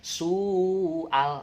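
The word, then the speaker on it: سؤال: kenal ya Oh soal-soal Tapi jangan bacanya soal tapi suwal Adapun soal ini yang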